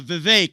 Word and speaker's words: Vivek: your name it's uh Vivek it rhymes with cake I found that most